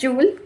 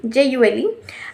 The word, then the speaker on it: joule: Its spelling is actually joule, but it is pronounced as joule, jule, and calories, and the SI unit of heat is joule.